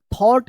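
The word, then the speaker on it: thought: एच टी यहां पे जी एच जो है ना साइलेंट है थॉट इसका उच्चारण होगा ठीक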